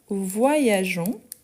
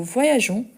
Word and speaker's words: voyageons: première personne du pluriel, il faut garder les E pour avoir les sons des gens et pas des gants. Donc, nous voyageons. Donc ici, on garde les E, même si on ne le prononce pas directement.